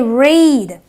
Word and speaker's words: read: is but over here it is not the short e it is the long e so I say read okay so the EA